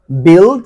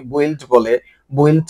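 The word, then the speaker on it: build: যেমন বিল অনেকে বইলড বলে এগুলো বলা যাবে না। এখানে ইউ এর উচ্চারণ হয় না।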